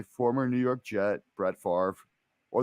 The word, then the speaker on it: Favre: New York Jet Brett Favre or they'll call him Brett fav like his name really is they won't mispronounce it